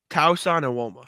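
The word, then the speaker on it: Tosan Evbuomwan: Tauson Iwoma. Nicely done. I don't say that. I'm looking at Basketball Reference pronunciation guide.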